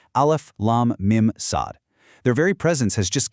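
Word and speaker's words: المص: Now, they aren't pronounced as a word. Instead, you say each letter's name out loud. Alf lam mimad.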